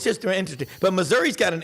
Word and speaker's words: Missouri: but Missouri has been please pronounce it Missouri people not Missouri um Missouri has been